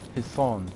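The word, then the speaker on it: حصان: In Arabic, the word for horse is Hisan. And that saw, that S, it's not like the regular Arabic S, right?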